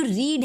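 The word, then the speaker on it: read: वो verb one है, लेकिन रीड का वर्ब थ्री भी रीड ही होता है। रीड, रेड, स्पेलिंग हमेशा सेम ही होती है। तो वर्ब थ्री में जब हमने रीड को कन्वर्ट किया तो वो बन गया रेड।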